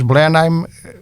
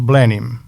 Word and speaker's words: Blenheim: língua inglesa tem especificidades, porque em inglês Blenheim que nós pronunciamos a à alemã é dito Blenim.